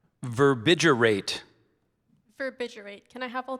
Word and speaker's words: verbigerate: The psychiatrist explained that some schizophrenic patients often verbigerate Verbbiterate.